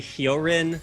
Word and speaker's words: Hyolyn: Well, I asked him over the break, and he said it is actually Hyolyn.